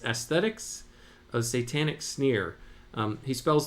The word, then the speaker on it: aesthetes: The word is aesthetes, spelled Aesthetes, pronounced aesthetics.